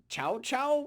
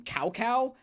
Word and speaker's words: Cao Cao: people in English, because it's not pronounced how it's spelled.